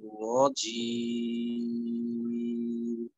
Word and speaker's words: رجيم: জিম তো জাহারের হর, বাতাস বের করা যাবে না। কিন্তু আপনি এই অংশে মুখের কাছে হাত নিয়ে এই উচ্চারণটা একবার করেন, রজিম। আর একটা হয়েছে রজিম, ইচ্ছি এই ধরনের হয়ে গেলে কিন্তু বাতাস বের হয়ে যাবে।